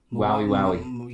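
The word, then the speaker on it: Waui: Oh, pronounce that for me, please, someone. W-A-U-I. W-A-U-I. Wowie.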